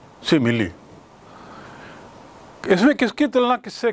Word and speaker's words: simile: उच्चारण भी ख्याल रखेंगे, सिमिली.